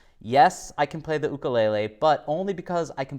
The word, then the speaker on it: ukulele: do you play the ukulele which is actually pronounced ukulele and what is your favorite Hawaiian food okay